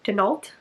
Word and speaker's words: Denault: I think Denault is how you pronounce it.